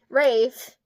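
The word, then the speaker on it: Raeve: As an assassin for the rebellion rate, see it's spelled like mave. So it's like ra it's So Mave is M A E V E and this is Rave cuz it's the same R A E V E.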